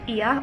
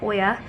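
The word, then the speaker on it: Oia: to venture out we're going to go to ia or oya depending on pronunciation which is the main town here all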